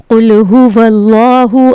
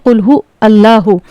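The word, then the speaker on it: قُلْ هُوَ ٱللَّهُ: कुल हुवल्लाहु। अब यहाँ पे एक गलती जो होती है, इसको पढ़ते हैं कुल हु अल्लाहु। ये गलत प्रोनाउंसिएशन है। यहाँ पर वाव लाम ज़बर वल पढ़ा जाएगा, वाव लाम ज़बर वल।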